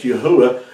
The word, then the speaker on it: Yahuwah: That's one of the ways, too, that we know that the Creator's name is pronounced as Yahuwah, because Yahudah has always been pronounced that way. It's never been Yahwada or Yahvada, but it's been Yahudah.